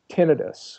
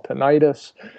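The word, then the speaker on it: tinnitus: us feel better like I have terrible tinitus which is a technical term for what lay people call tentis and I try to pronounce it correctly and then people don't know what you're talking about so idus is earring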